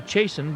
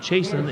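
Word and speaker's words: Chiasson: CH IAS s om wouldn't guess the pronunciation to be chasin but Jason it is there's the fella coming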